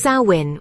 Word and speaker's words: Samhain: Sam Hain, pronounced sawin with a gentle emphasis on the first syllable.